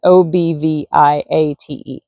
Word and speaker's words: obviate: Is that the correct pronunciation? It means to cover up, like obfuscate or deceive people, but it's obviate.